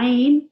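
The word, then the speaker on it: ع: The Ain. Yeah, well done. Okay, so the Ain is also pronounced from the middle of the throat.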